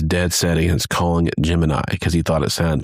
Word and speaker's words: Gemini: He wanted something more earthy and so he wanted to call it Jiminy and so that became NASA's NASA's official pronunciation of it was Jiminy.